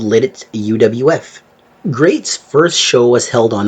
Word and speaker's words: GLEAT: GLE E A but trust me it's pronounced great great was founded in